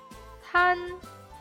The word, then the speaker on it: 滩: 有 3 点水的我们读作滩，没有了 3 点水我们读作难。